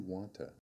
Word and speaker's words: want to: The words want to change to wanta.